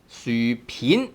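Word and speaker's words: 薯片: And then we have 薯片. A 片 has actually two pronunciations, right? 片 tone 2 here, but then normally the word is called 片 tone 3.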